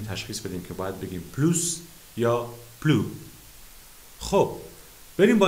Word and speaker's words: plus: نو پلو، اس تلفظ نمیشه.